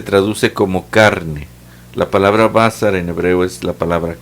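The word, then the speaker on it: בָּשָׂר: dice esto en hebreo la palabra hebrea es basar no basar así como esa de menamor tiene un bazar bazar sin el este sin acento y con ese bazar literalmente se traduce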